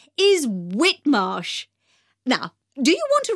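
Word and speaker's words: Whitmarsh: us outside the shop the shop's name is whitmosh now do you want to write that down i'll spell it for you that's w h i t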